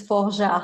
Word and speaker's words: Forgeard: last name please um it's folger in french but okay you know